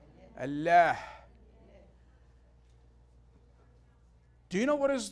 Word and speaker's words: Allah: diverse religion the pronunciation the correct pronunciation the Arabic route pronunciation of God's name in Arabic is Allah Allah do you know what